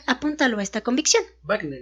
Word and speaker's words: Wagner: Más tarde, el mismo Wagner apuntaló a esta convicción. Wagner, ¿no? No, Wagner. Por eso, pero se pronunciaría Wagner. Ay, quién sabe. Está con un W.